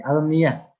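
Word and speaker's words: المياه: Kita bisa membacanya almiyah karena merujuk ke kaidah dalam bahasa Arab. Sebelumnya itu kasroh, sebelum alif itu fathah. Jadi almiyah.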